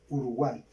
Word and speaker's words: Uruguay: Uruguay. Yo ya les expliqué que la Y al final suena como I latina, entonces vamos a separarla por sílabas.